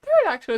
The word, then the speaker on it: pterodactyl: time oh yeah pterodactyl pterodactyl isn't hard to say it's spelled weirdly but it is very simple it's just te ignore the P teract to and that's it great why B